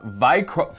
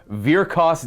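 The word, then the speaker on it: Vyrkos: points we are playing vikr sorry virakos dynasty i believe that's the pronunciation of it i will probably end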